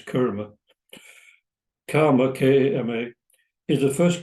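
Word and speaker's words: Kama: And she says karma, K-A-M-A, not K-A-R-M-A, which we pronounce kurma.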